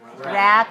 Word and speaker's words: wrap: wrapping paper okay now the word wrap don't get mixed up r-a-p and w-r-a-p which which one is the kind of music r-a-p rap same pronunciation right same pronunciation whenever we